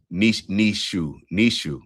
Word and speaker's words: Nietzsche: Nishu. I appreciate you giving the pronunciation.